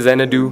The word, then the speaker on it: Xanadoo: I pronounce it Xanadoo.